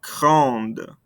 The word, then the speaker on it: grande: Adding this E makes us pronounce those ending consonants. Répétez-moi. Grande.